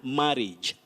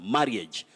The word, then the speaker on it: marriage: exonerate equivocal expedite and marriage don't say marriage very common marriage but you say marriage courage miscarriage and all